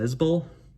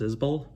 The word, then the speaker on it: Isbell: 2013's southeastern by jason isbell i've called him jason isbell for many years and i think it's pronounced izbull um this is this